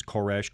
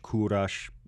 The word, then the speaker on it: Koresh: But then he also takes the name Koresh, which is the original pronunciation. Write your letters of complaint to Gene Boonstra, Box 999. Lovely. Okay, it's the original pronunciation's Koresh, Kurash, not Cyrus.